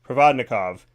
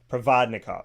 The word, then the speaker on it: Provodnikov: as Roslin ikovic and pardon me if I said that wrong pravatnikov provodnikov that's how you say it so pardon me on